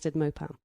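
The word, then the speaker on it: Maupin: the City by armad mopan is that how you say his name or mopan 1978 or mopin it's m a u p i n I would pronounce that mop oh just check your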